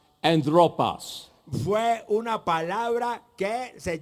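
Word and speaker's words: ἄνθρωπος: But the actual Latin word that he used Pero la palabra real latina que él usó was a word that is pronounced anthropos.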